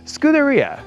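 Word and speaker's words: scuderia: Uh so, right here we have the stables or scooteria is how I'm told it's pronounced in Italian.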